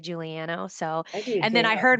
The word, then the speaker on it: Juliano: No, I you know, I actually think my husband says Juliano, but I like to say Juliano.